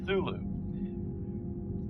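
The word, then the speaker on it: Cthulhu: it's called call of thulu c t h u l h u is the last word but it's pronounced thulu c t c-t-h-u-l-h-u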